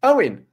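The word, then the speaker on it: Eoin: This is from Owen, spelled E-O-I-N, which is one of the better ways to spell it, I think.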